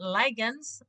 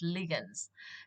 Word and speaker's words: ligands: word ligands what are ligands remember they're not ligands ligands is wrong the pronunciation is ligands now ligands are molecules or ions having one